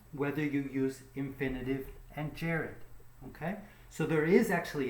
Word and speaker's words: gerund: you'll remember from pronunciation a soft G is like a J so we say Jared and in this case